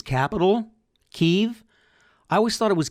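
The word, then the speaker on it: Kyiv: Well, apparently the backstory to that is Kiev is a Russian pronunciation of that city. And I don't know if you know this or not, but Ukrainians don't want to be aligned with Russia. So their pronunciation, Ukraine, which is not the Ukraine, like the Miami University, Ukraine doesn't have the, and it's pronounced Kiev.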